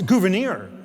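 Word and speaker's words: Gouverneur: Uh, it's Gouvenir.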